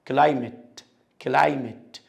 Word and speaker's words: climate: ال ATE دي لو هي نهاية اسم بتبقى شورت A. at climate.